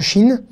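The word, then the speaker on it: שׁ: Il a une forme très particulière, ce « shin », qui se prononce « che » quand il est « shin » et « se » quand il est « sin ».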